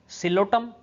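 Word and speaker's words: Psilotum: Pteridophytes के अंदर अभी तक हमने जो एग्जाम्पल्स देखे हैं वो है साल्विनिया, सिलोटम, सिलोटम की स्पेलिंग एस से नहीं बल्कि पी से स्टार्ट होती है, then Selaginella, lycopodium, Equisetum, Dryopteris, terrace and Adiantum.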